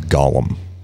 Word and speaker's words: Gollum: Is that two syllables? Or Gollum? Gollum. Gollum. Two syllables, yeah.